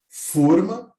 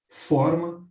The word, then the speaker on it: forma: Se eu pronuncio com um timbre fechado, forma, independentemente do acento ou sem acento, significa molde e recipiente. Se eu pronuncio forma, significa formato, aparência, modo.